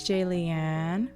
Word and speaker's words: Jaliane: Hey, it's Jaliane, rhymes with Alien.